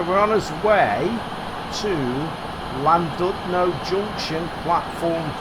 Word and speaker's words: Llandudno: And we always call Llandudno, but somebody pulled me up on it and said you shouldn't be calling it Llandudno. It was Llandudno or something like that.